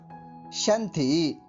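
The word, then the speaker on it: 身体: एक बार फिर से सुनिए, SHENTI, और इसका प्रोनाउंसिएशन कुछ इस प्रकार से होगा, शंथी शंथी शंथी।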